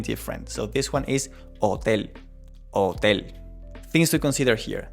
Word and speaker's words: hotel: So, this one is hotel. hotel Things to consider here. The H in Spanish is going to be silent. We do not pronounce the H. hotel Just ignore it.